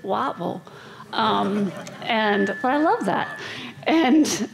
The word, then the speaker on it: Whiteville: One was a solo practice in Whiteville, and down there they pronounce it Wattville.